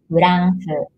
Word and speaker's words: フランス: France, as we don't have double consonants, this is not F-R, but F-U-R. And L is pronounced like L in English. France.